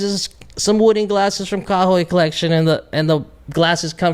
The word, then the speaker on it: Kahoy: So it's pronounced Kahoy.